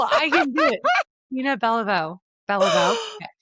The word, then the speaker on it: Bellevaux: So, today's guest is a powerhouse in the real estate world, Tina Bellevue. Oh my gosh, I'm going to say it wrong. Tina Bellevaux.